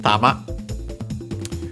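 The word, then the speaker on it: 玉: First and foremost, we have tama check it sax. But this is actually the word I was uh mentioning before for ball sphere uh globe of uh yeah accented actually on the last syllable.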